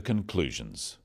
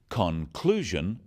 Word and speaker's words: conclusion: In words, one syllable is stressed. The wrong stress makes it hard to understand. So, conclusion, not conclusion. Products, not products.